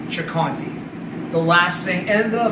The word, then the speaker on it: Ciccanti: jocanti it's spelled c-i-c-c-a-n-t-i in italian the ci is a ch sound so if you guys are wondering when you see the spelling why is it not so candy could be in it in the way americans say it and we have no problem with that but the proper way of saying it is chakanti the last thing and